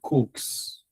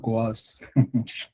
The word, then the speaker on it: coax: It's pronounced like your Coke what you they drink. So this is Cokes. Some people call it coas. Okay, yeah, people for this country. You say coas. That's not be coas.